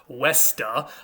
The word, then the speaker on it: Vesta: in the roman tradition this goddess's name was vesta originally that would have been pronounced westa um we get a